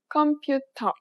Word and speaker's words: 컴퓨터: It sounds similar to its English counterpart, but there are important differences. If you pronounced it like you would in English, you would be hard to understand.